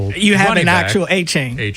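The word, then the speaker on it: Etienne: They signed Travis uh ETN uh which isn't Et I'm saying his name wrong. I believe it's well it's a chain now. Achain. That's what it is.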